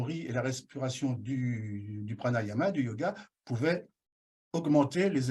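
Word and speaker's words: prāṇāyāma: Alors, le yoga du rire, ce sont des exercices de rire, des exercices de respiration pranayama et non pranayama. Là, j'ai inversé les syllabes, mais c'est pranayama.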